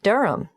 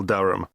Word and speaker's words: Durham: how do you spell durham d u d-u-r-h-a-m of course i should know that but it's just one of those names that sounds quite different from the way you spell it it is confusing i've